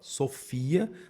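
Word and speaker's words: σοφία: Sofia está na segunda, ó. Sofia.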